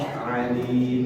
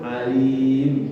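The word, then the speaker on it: عَلِيم: Misalkan kita baca Innallaha sami'un alim pakai ain, sami'un pakai ain, alim pakai ain. Sesungguhnya Allah Maha mendengar dan Allah Maha mengetahui, kan begitu. Tapi kita salah baca, bacanya tidak dalam. Innallaha sami'un alim pakai hamzah. Hamzah alim itu artinya pedih.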